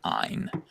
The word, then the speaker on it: Ayn: It's pronounced Ayn.